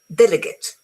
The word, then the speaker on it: delegate: Okay, we have the noun and the verb forms of this word are generally pronounced differently. They're both stressed on the first syllable, but the noun, meaning a representative, ends with a schwa sound.